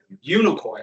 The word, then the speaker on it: Unicoi: Unicoi.